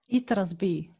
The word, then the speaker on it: Itras By: excited, called Itras By, or how do you pronounce it actually? Itras By.